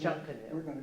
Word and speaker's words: Junkanoo: It's the way that it's in the Bahamas and stuff, that's their festival, but they pronounce it Junkanoo.